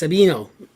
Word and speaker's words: Savino: i am spanish name savino would have been pronounced sabino in southern italy at the time my